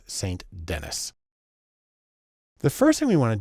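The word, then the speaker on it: Saint Denis: it should be pronounced Ruth sandini she's American so it's saint-denis the first thing we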